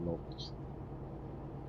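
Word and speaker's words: Łódź: LODZ. I think it's pronounced Lots.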